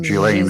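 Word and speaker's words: Ghislaine: and accomplice gain Maxwell lots of ways to try to pronounce gain gain Gan is the cor correct way British terminology settled in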